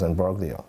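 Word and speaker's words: imbroglio: And this word is embraio. Yeah. Embraio. The G is silent. So it's embroio.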